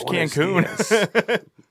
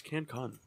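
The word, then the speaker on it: Cancún: Yeah, he survived Cancun. It's Cancun. Why is everyone pronouncing it wrong today?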